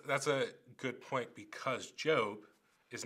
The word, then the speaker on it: Job: sort of stuff and we pronounce it correctly it's job and not job um why don't you